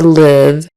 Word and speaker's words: live: short I Lids or live rhymes with give give in mind that